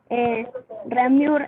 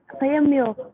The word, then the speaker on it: Réaumur: Es que no es, o sea, no es René Antoine, Ramur, es Réaumur. La E, en este caso, como es un diptongo francés, se pronuncia como una I, Réaumur, y se Rimur, le pone la Réaumur.